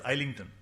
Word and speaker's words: Islington: Actual pronunciation is Islington.